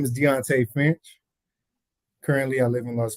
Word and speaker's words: Deonte Finch: amazing on their journey so none other than deontay finch did i pronounce it right yes that's perfect deontay finch that's correct king jacob sir so uh for